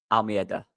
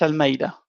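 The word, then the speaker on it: Almeyda: So it's Matias Almida. Is that right? Matias Matias Almeida. Yeah. Almeida. Right. Good.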